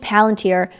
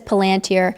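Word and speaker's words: palantír: He says palanteer, but we're not sure if that's an English accent thing or if that's the correct way to pronounce it. We'll say palanteer.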